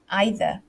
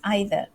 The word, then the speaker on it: either: it's forgivable it's normal it's like the word um either right either e-i-t-h-e-r so sometimes i say either sometimes i say either and one of them is american one sounds british and then but then um some of you know sometimes british people use both and it's just it depends